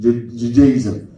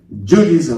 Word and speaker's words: Judaism: I used the British pronunciation, Judaism. Judaism, Americans say.